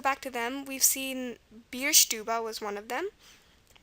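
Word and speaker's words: Bierstube: it out beer stuba you were probably wondering why I was pronouncing theba again the schwa at the end is going to be an e we saw shoden frea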